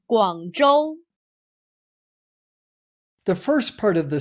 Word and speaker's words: Guangzhou: name of the city z h is pronounced much like the English J Joe remember the name Guangzhou the first part of